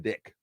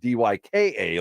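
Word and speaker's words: Dijk: an entirely different thing he spells his last name d JK how would you pronounce it it's not dyka like you would think Dyke in the classic sense but Virgil Van Dick he's a Defender oh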